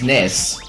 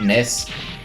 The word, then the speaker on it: NES: oh wait hold on it's ness because apparently it was indeed confirmed why some some some source that it's supposed to be pronounced nest and presumably going from that snez instead of NES and SNES which is